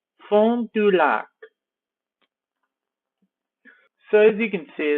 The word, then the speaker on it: Fond du Lac: Or, actually this is kind of French, so I'll pronounce it in a French way. Fond du Lac.